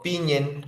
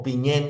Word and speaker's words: piñén: El título del libro Piñen o piñén también es visto que se pronuncia con el acento en la última, proviene el mapudungun, la